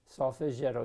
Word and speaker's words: Solfeggietto: practice it and uh have fun with it it's spelt s-o-l-f-e-g-g-i-e-t-t-o sawfightero cpe bark and i think you'd really enjoy